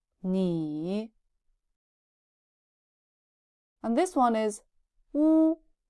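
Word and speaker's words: 你: Ni. This is a 3rd tone. Ni. It's like the zombie voice. Ni. It means you. 跟我读, read after me. E. Ni.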